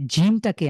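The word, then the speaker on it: جيم: অর্থাৎ তালুর সাথে লাগিয়ে জিমটাকে আমাদের জীবের যে মাঝখান ধরেন জীব জীবের মাঝখানটা উপরের তালুর সাথে লাগিয়ে উপরের তালুর সাথে খুব স্ট্রংলি লাগিয়ে এটা উচ্চারণ হবে বাংলা যেরকম জিম সেই ঠিক সেইম ঐরকম তো জিম এটার কতখানি লং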